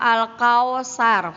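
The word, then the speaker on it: الْكَوْثَرَ: Al-Kautsar ini dibacanya kau, bukan kau. Ya, bukan Al-Kautsar, salah ya.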